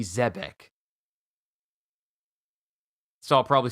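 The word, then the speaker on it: Zebec: I thought it was Zebek. I called it Zebek with a B-I-C at the end. Even though it's B-E-C, so it should be Zebek. Rox D. Zebek.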